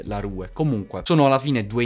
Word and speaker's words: Simba La Rue: letto nei commenti che si pronuncia simba la roux ora cercherò di farlo mondini e naturale dire la rue comunque sono alla fine